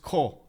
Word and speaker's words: CAW: Also, CAW is pronounced Ko. Ko, like that, Ko.